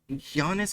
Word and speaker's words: Janus: Janus is the right way to pronounce it, apparently.